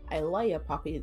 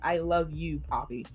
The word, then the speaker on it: I Luh Ya Papi: I Love Ya, Papi. That's exactly how it's pronounced, guys, and how it's spelled. I Love Ya, Papi. Not I Love You, Papi.